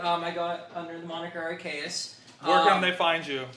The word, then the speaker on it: Arcaeus: Oh, so for my personal project, I got under the moniker Arcaeus. Where can they find you? We'll do that. You do all that my too. my social media handles is it's Arcaeus. Spell it.